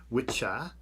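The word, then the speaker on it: wicce: two words, the masculine witcha, which is W-I-C-C-A, pronounced witcher, and the feminine W-I-C-C-E, pronounced witch, so witcher and witch.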